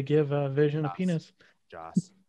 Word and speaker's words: Joss: i mean we know josh whedon wanted to give a vision a penis joss god damn it i do say it correctly majority of the time there's no h i know doing it